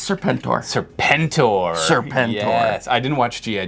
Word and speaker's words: Serpentor: Here, I'll give you— You sure it's not pronounced Serpentur? No, it's Serpentor.